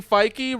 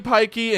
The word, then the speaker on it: Fyke: Fyke. Fyke. It's Fyke. All right, cool. And then I go, it's spelled Pike, but with an F. It's Fyke. And he goes, all right, Pikey and Eamon Hill.